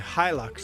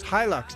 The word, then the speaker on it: Hilux: We say Hilux. Hilux, okay. Hilux. I don't know, we don't have them here, so obviously your way is the right way of pronouncing them.